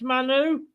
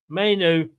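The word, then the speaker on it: Mainoo: Is it pronounced Manu? Mainu.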